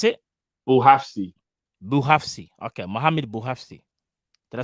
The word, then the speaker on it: Bouhafsi: Bouhafsi. That's how you pronounce it, bro. How do you pronounce it? Bouhafsi. Okay, Mohamed Bouhafsi.